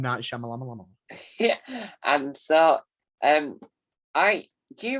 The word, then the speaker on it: Shyamalan: Night Shyamalan, I call him M. Night Shyamalan.